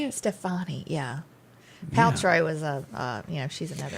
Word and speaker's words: Stefani: Stefani, yeah.